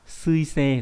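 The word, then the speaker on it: 水星: Đầu tiên gần mặt trời nhất là sao thủy đọc là suisei là chữ thủy và chữ tinh này.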